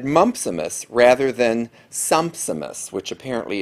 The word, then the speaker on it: mumpsimus: today is the word mumpsimus it's spelled m-u-m-p-s i m u s so it's like the disease mumps with imus at the end of it and the